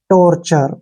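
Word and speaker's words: torture: है ठीक है ना जब भी टी के बाद यू ए आता है फिर या यू आता है टी के बाद तो वहां पर च का उच्चारण निकलता है ठीक है और री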